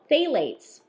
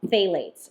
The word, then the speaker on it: phthalate: But I want to read you a little thing about phthalates. Yeah. This is something that we have read a lot about, and I'm sure you've seen the word phthalate somewhere because the P is silent.